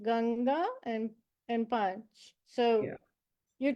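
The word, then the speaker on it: गंगा: And what I will say is that they tend to occur before a consonant in the same row here. Therefore, you will automatically pronounce this correctly. So an example would be Ganga, Ganga. Okay, so this N appears before this G and your tongue's already in the correct place. It's very hard to mispronounce it.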